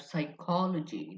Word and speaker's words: psychology: From Greek we have psychology. The P is silent in psychology.